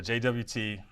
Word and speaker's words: JWT: So the approach that we're going to do, it's called a JWT, or JSON Web Token, or some people pronounce it JOT. I'm never going to say that. I refuse to call it a JOT. It's a JWT, or it's a JSON Web Token in my book.